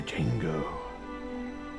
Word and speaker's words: Django: The Django. The D is silent. So just Django.